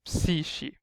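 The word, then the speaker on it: ⲯⲩⲭⲏ: And Psishi, you've seen a K coming, is followed by an E, a long E sound, so it just becomes like a sh sound, so Psishi.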